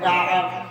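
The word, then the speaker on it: Ka'b: কাব আইন বে একসঙ্গে উচ্চারণ হবে কাব।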